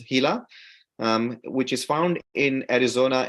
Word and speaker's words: Gila: lizard called Gila monster it's spelled Gila but it's pronounced as hila which is found in